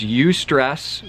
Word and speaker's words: eustress: There's eustress, which is spelled EU stress, eustress, and there's distress.